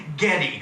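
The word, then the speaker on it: Geddy: Gary Lee wiin rib whose yish grandmother pronounced his name Getty who would grow up to be Getty Lee the best best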